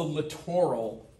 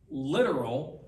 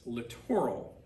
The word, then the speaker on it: littoral: this is called the littoral zone lit oral littoral don't pronounce it literal because you know that is a different word no one pronounces that literal it's littoral zone and this is